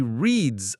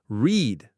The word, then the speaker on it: read: The spelling is the same, R-E-A-D, but the sound is different. Present tense is read, like the word read. Past tense is read, like the color red.